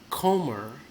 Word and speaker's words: Comer: This guy, Comer, name rhymes with Gomer, and he sounds like a Gomer.